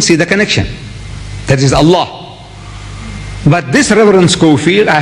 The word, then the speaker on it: Allah: If it's A-L-A-H, is Allah. You say Allah. I said, look, say Allah.